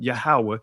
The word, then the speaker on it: Yahweh: I'm saying Yahweh because that's how it's pronounced, or Adonai, is to be translated Lord and the form God.